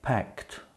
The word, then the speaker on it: packed: As usual, Jack packed almost nothing. Packed. You hear the T sound? The ED is pronounced T.